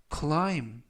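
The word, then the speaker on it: climb: 되겠습니다 이번 표 는 클라임 클라임 클라임이라고 발음하시면 되겠고요 이때 유의하실 점은 끝부분에 있는 알파벳 B 이번 단어에서는 무음이라 발음이 되지 않습니다 그래서 클라가 아니라 클라이라고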